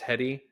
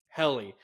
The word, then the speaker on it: Helly: The last episode I remember watching was, is her name, is it pronounced Hetty? It's been so long. Helly.